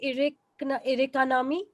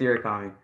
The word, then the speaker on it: Irakami: Me, am I pronouncing your name right? Irikanami? Yeah, it's Irakami.